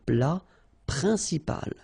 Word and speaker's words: plat principal: Un plat principal. En, remember, it's nasal, it goes in your nose.